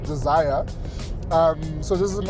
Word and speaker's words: Dzire: We are out in Joberg on the launch of the all new uh Suzuki Zer. Well, that's how people pronounce it, but it's actually pronounced desire.